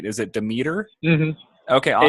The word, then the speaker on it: Demeter: It is Demeter. Everybody gets it wrong, though, so it's all good. Demeter. Yes. Okay. Like the Greek god, except I think the Greek god might be pronounced differently, so maybe I'm lying to you.